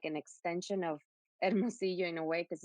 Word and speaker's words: Hermosillo: Yeah, so I'm originally from Hermosillo, that you pronounce very well.